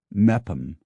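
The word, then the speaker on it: Meopham: defy pronunciation as with m o p m a town in Kent pronounced meam or a u c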